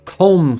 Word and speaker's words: comb: yeah comb came up comb it ends with the b and it's like why i don't know it's just so bizarre why why do they happen to have a silent b at the end uh argusing the flame